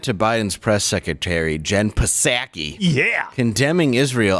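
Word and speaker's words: Psaki: biden's press secretary jenn pasaki yeah condemning israel i'm not pronouncing the p she's an idiot condemning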